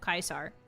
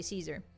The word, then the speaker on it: Caesar: So, it's the correct pronunciation of Kaisar Latin wise, but most people just say Caesar.